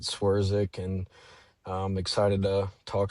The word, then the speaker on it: Swerczek: Yeah, you pronounce it Swierzic, and um excited to talk some bass fishing with you guys.